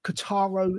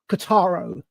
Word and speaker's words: Kotaro: It's a little anime series that I found on Netflix, and it's called Kotaro Lives Alone.